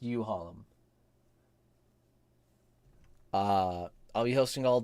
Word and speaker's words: Uhalm: all downloads for like you Harlem it's pronounced you hollom uh I'll be hosting